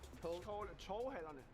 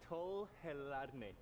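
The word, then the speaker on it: Torvehallerne: Can you help me to pronounce the name one more time? Torvhallerne. Torvhallerne.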